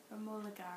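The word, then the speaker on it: Romola Garai: Romola Gare, I think.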